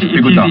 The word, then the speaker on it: Bigourdin: Bigourdin. It's easy. Just think bigger than.